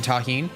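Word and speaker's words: Tajín: the deliciousness of Tajin yeah that's how you pronounce it delicious with the addition of the Tajin this corn was actually pretty tasty with only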